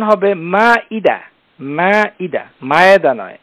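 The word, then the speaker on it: المائدة: প্রশ্ন উত্তরে চলে যাব এই যেটি সূরা আল মায়েদা এখানে আমাদের সবার অবগতির জন্য জানাচ্ছি আমরা সবাই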